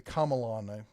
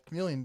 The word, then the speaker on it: Chameleon: The Camelon, that's how you think you're supposed to pronounce it. But I'm going to call it the Chameleon because that's what everyone you calls spelled it that way.